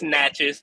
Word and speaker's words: Natchez: It's Natchez, but it's all good.